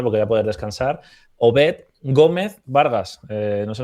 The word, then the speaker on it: Obed: conocer al bueno de Obet Vargas, porque según él se pronuncia así, ¿no? Obet Vargas.